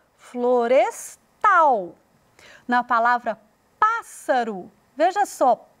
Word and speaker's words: florestal: Na palavra florestal, parece muito com a palavra floresta, mas a ênfase veio para o tal, florestal.